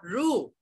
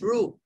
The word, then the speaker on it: roux: we have here the rule okay pronounce nothing rule pronounce rule okay it's roux okay roux is a